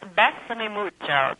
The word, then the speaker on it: Bésame Mucho: But we're going to just play a very small segment of, am I pronouncing this correctly? Besame Mucho? Oh, Besame Mucho, Kiss Me Much, yes, by Consuelo Velasquez.